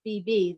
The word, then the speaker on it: BHBH: Just a note, with the acronym Behavioral Health Bridge Housing is BHBH, but we pronounce it BB. The H's are silent.